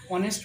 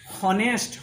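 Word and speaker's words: honest: এন ই এস টি হনেস্ট হনেস্ট কিন্তু আমরা হনেস্ট বলি না আমরা উচ্চারণটা করি ও থেকে অনেস্ট যেহেতু ও থেকে উচ্চারণ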